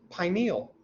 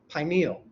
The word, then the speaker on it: pineal: Here's how we pronounce it usually, pineal, because it means pine-like. It's my first joke to y'all. If you say pineal, you think it looks like something else. Just saying. So it's pineal.